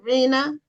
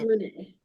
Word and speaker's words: Renee: And the last name or the second name that you go by is that Reena? It's pronounced Renee.